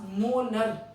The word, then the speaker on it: molar: अब पूछा है मोलर मास, मोलर, थोड़ा प्रोनाउंस करो, मोलर मास। तो कैसी साउंड आ रही है?